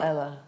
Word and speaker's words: Elah: Is it Ela or Ella? Well, you could say either. Whatever. Paul says either.